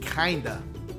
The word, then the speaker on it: Kinda: This youngster's name ended up being Kinda, rhymes with Linda, and it has Swahili and Arabic origin that means beautiful.